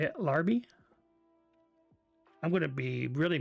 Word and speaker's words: Larby: That's how you say it, Larby.